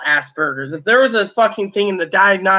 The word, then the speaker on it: Asperger's: I mean then he claimed he had Ass Burgers remember instead of Asperger's he said Asperger's like a-s-s burgers I mean literally isn't